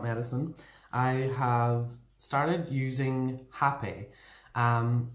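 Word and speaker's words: rapé: into my life and it's spelt r-a-p-e like rape but it's pronounced happy um and if you're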